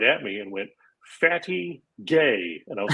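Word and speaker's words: fatigué: she's learning French and the French word for tired is like our word fatigue but it's pronounced fatty gay but when you're a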